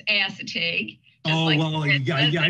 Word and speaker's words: Assateague: bit about the i i make sure i'm pronouncing this correctly assateague island national seashore it is if you're very close it's assateague oh well yeah yeah i didn't want to